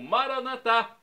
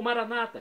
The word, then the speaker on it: maranata: arama dialeto de Jesus eu clamo maranat como dizemos nós católicos com a tônica na última sílaba ou Maranata como dizem nossos irmãos separados os evangélicos ou protestantes não importa pronúncia o significado é o